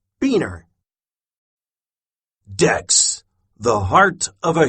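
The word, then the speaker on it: Buehner: Beaner is Carolyn Beaner's husband, and their last name is pronounced Beaner.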